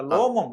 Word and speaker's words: லோமம்: ரோமம் என்றால் ரோமம் இல்ல, லோமம்.